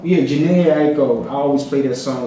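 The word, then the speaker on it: Jhené Aiko: Janae Aiko. Yeah, Janae Aiko.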